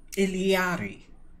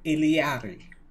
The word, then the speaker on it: Illari: like what I saw ilyadi yes I ain't butchered I butchered it when I started because you know I went with the basic English pronunciation Iliana that look good okay